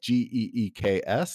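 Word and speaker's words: Guix: like i get to in geeks which also i should note it's not spelled like g-e-e-k-s it's spelled g-u-i-x geeks you write a declaration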